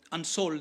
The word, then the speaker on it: Unsoeld: Willie Unsold, I'm not able to pronounce it properly. It's Unsold.